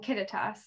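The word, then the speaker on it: Kittitas: sorry count um yeah the yakima yakima and kittetas did i say it right you did you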